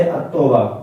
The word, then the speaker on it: التوبہ: جیسے تا سے التوبہ، جو لام ہے، یہ لام ہے، یہ تلفظ میں شامل نہیں ہو رہا ہے.